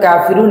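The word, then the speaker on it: كافرون: কাফিরুনা কাফিরুনা কাফিরুনা, এভাবে করে 10 বার বলুন। এই শব্দের অর্থ হচ্ছে অবিশ্বাসীরা। এই শব্দের উচ্চারণ হচ্ছে কাফিরুন কাফিরুন কাফিরুন, এই শব্দের অর্থ হচ্ছে অবিশ্বাসীরা বা কাফিররা।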